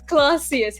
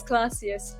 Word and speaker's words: Clossius: No, it's Clausius. It's Clausius. Oh wait, am I pronouncing your name correctly?